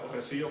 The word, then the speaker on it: Resío: galega patrimonial bastante valiosa, que se converteu en o Rocío, por confusión, pensando que o S que era seseo e que era unha mala pronunciación de o Rocío. Pero da boca da xente que conservou o nome de moita xente, chaman ainda o Resío, que é a forma histórica documentada, ou a Barxiela, que